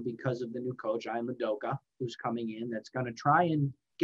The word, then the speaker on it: Ian Udoka: But I think that there's a lot of optimism right now because of the new coach, Ian Udoka, who's coming in, that's going to try and get this team back on the map here.